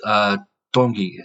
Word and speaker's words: Tongi: So, and his last name is Tongi. So it's a T and then it's pronounced with a D, like he said.